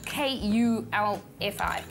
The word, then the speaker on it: kulfi: So K-U-L-F-I, kulfi. Think of cool. Think of cool, but you don't spell it with a C because it's with a K.